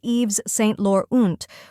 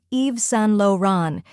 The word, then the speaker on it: Yves Saint Laurent: the correct pronunciation is Eve San Lan EES is pronounced as Eve with a silent s Saint sounds like San with a nasal tone luron is low Ron